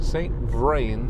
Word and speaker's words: St. Vrain: St. Vrain State Park. I don't think I've heard of a St. Vrain before. It's like brain, but spelled with a V, which is Continue for interesting.